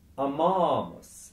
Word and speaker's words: amamus: goes ammo, ammas, ammat, amamus. Suddenly we've stressed a different syllable.